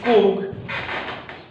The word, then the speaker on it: Coorg: Not cool like coil, but it's Coorg. Some pronounced with Coorg and many pronunciations are there.